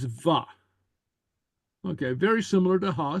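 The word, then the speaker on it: bha: make a statement, it's va. Okay, very similar to ha. So go ahead and say va, Va. Ah. va. Okay. Ah. Yeah, and it's pronounced with a V.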